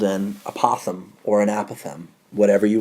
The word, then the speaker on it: apothem: it whatever you want i call it apothem other people call it apathem i think they're right and i say it wrong i'm not sure but